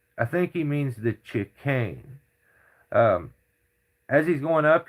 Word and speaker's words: chicane: I've never in my life heard anybody call it a chan. It's called a chicane and it's the most